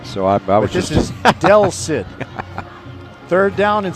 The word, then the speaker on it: Del Cid: Oh, Del Cid. Okay, let's see here. I said El Cid.